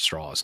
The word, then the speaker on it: Strauss: But Strauss, to use even though it's spelled Strauss, it's pronounced Strauss.